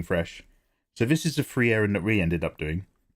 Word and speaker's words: Frieren: It's amazing he watched the anime and still pronounces her name wrong. Is it not? Frieren.